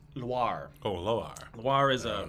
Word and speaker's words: Loire: Not noir. Loire.